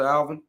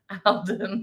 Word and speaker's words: Alden: great show shout out out to Alvin Alden how you say his name Alden Alden sorry I didn't mean to butcher your name shout out to you